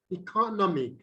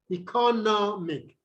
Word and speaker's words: economic: have look at this economic economic okay it's just to be on this track i mean the syllable before the last e economic economic okay economic okay so